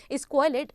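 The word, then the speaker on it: squalid: The correct pronunciation is स्क्वाइलेट और जिसका मतलब क्या होता है, बहुत ही ज्यादा डर्टी, बहुत ही ज्यादा बुरा।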